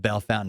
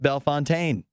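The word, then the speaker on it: Bellefontaine: think belfountain Ohio but if you know about Bell Fountain Ohio it looks like it should be pronounced B Fontaine and there's a million places in the midwest that look like they should be pronounced something French and they're pronounced in the least French way you can possibly imagine um Rachel's right but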